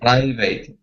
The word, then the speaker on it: private: okay it's Pride private private private okay now at the end here um the at in some cases okay is not pronounced eight okay so here we we say it private private private private private